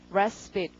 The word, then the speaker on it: respite: 휴가, 휴식 이럴 때 respite, 강세가 앞이고요.